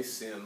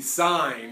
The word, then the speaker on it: sine: Please don't say sin, I might pick on you a little bit, all right? It is the sine of angle A, all right? It is spelled S-I-N-E, sine of angle A,